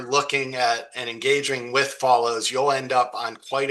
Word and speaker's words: Folloze: And just for those watching, the way Follows is spelled is Folloze.